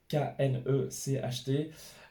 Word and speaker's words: Knecht: On a aussi, alors, en termes de prononciation, Dalton Knecht, Knecht, qui s'est fait un nom du côté de LA à Los Angeles.